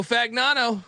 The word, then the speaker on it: Fagnano: Joe Fagnano, quarterback.